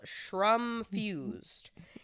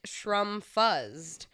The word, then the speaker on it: Shrumfused: a mushroom product called Shrumfused. He pronounced it shr fuzzed, basically how it's spelled. I corrected him and told him it was pronounced shrumfused because it is mushroom infused.